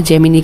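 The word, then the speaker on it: Gemini: जेमिनी हमारा Google का है, जेमिनी कह दो, जेमिनाई कह दो, एनीथिंग, डिपेंड करता है एवरी इंडिविजुअल के प्रोनाउंसिएशन पे।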